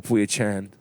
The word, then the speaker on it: Pui Chan: Yeah, Grandmaster Pui Chan. Did I say it right? Yes.